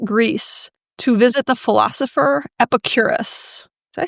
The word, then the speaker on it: Epicurus: to visit the philosopher Epicurus. Did I say that right? I like to also call him Epicurius, which is not the right way to say it.